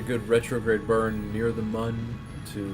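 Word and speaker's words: Mün: burn for the mun it is indeed pronounced mun because of the oml over the U please keep your trade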